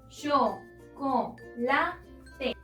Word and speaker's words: chocolate: Tiene su sílaba tónica en ban, es decir, en la penúltima sílaba, pero como también termina en una vocal, no la podemos acentuar. La última palabra. Chocolate.